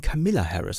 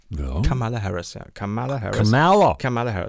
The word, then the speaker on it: Kamala Harris: Die immer häufiger im Fernsehen Camilla Harris ausgesprochen wird. Ist das so? Ja, fällt mir immer stärker auf. Kamala Harris.